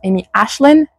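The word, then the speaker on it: Amy Aislin: Bah, apparemment ça se prononce Amy Ashlin et euh du coup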